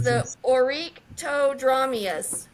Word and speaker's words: Oryctodromeus: The next one, it's a little harder to pronounce, so bear with me here. Oh, I know which one It's this the Oryctodromeus. is. Orectodramius. Oryctodromeus.